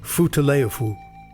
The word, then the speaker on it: Futaleufú: Virtually no one had ever heard of the far-off blue river with the melodic name pronounced Futaleufu.